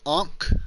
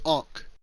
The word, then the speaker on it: ankh: the Egyptian cross, which is known as the Ankh, I believe is how they pronounce it. Spelled Ankh. I believe they pronounce it Ankh, which is a weird pronunciation, but it is what it is.